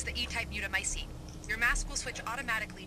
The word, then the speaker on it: mutamycete: We're still analyzing the data, but it looks like he's been running experiments with an E-type mutamycete. Let's hope those men So that's how it's pronounced.